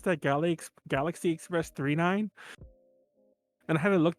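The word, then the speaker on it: Galaxy Express 999: feels wrong so yeah you pronounce it three nine even though it's three nines but it's 999.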